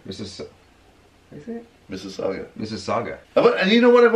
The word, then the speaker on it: Mississauga: Mississauga. Mississauga.